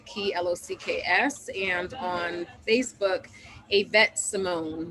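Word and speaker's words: Ayvette: Locks spelled like the key Locks, and on Facebook, Avette Simone. That's AY V as in Victor ETTE Simone.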